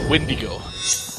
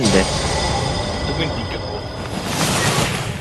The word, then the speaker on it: Windigo: Shouldn't we be fighting the mage or Wendigo? Windigo? Windigo. Wind. The Windigo. The Windigo. It is pronounced.